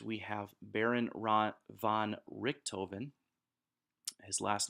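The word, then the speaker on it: Richthofen: time in fact we have baron ron von Richtofen his last name is spelled RI CH th Oh Fe n he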